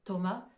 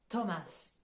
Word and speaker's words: Thomas: de nom de pays ici la prononciation du h on l'entend pas en fait ça va uniquement être le T qui sera prononcé donc c'est le cas par exemple pour le prénom Thomas Thomas ou là en anglais on va prononcer avec le son t entre parenthèses vous constatez que le S à la fin se prononce en anglais alors autre exemple